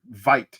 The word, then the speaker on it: Veit: We're saying Veit, right? Veit, I think, is the proper pronunciation.